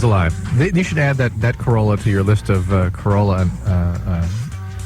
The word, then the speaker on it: Carolla: Carolla, like gorilla. Carolla.